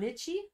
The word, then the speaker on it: lychee: don't know what lichen is. Is that how you say it? Lichen? Lychee? Lichen? Lychee? Lichen? Or Lychee. well, lychee, okay.